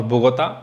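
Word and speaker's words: Bogotá: बोगोटा English में बोलते हैं और बोगोता स्पेनिश में बोलते हैं,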